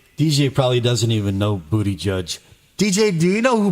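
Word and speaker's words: Buttigieg: It looks like booty g, but it's actually pronounced booty judge.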